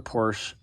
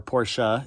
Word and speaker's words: Porsche: Actually, I did own another Porsche, or Porsche, if you want to say it right.